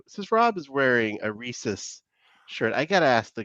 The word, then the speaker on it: Reese's: Go ahead, How do you pronounce that? Both say it out loud. Reese's. Yeah. Reese's.